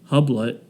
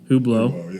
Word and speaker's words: Hublot: It says they stole more than $12,000 in cash, an $18,000 Rolex, a $25,000 Hublet. I don't know what that is. Hublot. Yeah, sure. It's spelled stupid.